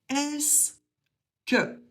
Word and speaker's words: est-ce que: Et on le prononce tout simplement est-ce que.